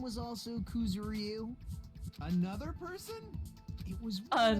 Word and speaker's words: Kuzuryu: Kuzuryu.